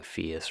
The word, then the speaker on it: PHIUS: FIAS is uh you know, it used to be an acronym. They've kind of rebranded and now we're just pronouncing FIAS, right? But it's PHI US. It's passive house institute US.